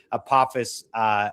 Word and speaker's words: Apophis: It's the asteroid Apophis, but it's really Apophis, in its proper pronunciation, to come by on April 13th of 2029, and then also secondarily to come back around in 2032.